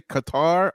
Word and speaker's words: Qatar: You can say Qatar or Cutter. They're both right.